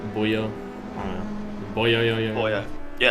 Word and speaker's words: Buemi: Yeah, Buemi. I always say it like that. Like like buoyant, Buemi.